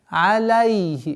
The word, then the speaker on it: عليه: Обратите внимание на произношение звука кесры над звуком огласовки фатха над лямом. Алейхи. Ле.